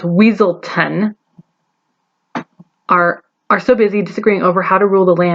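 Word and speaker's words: Weselton: he and bug heads like the duke of weaseltown pronounced weasel 10r are so busy disagreeing over how to rule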